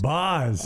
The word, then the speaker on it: Baz: tonight 22-year-old Shane BOS spelled baz pronounced BOS BOS uh he's on the